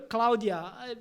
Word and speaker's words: Cloudia: É uma pronúncia meio em inglês, e o IA, que é sigla em português. Então, foi uma mistura. Cloud IA.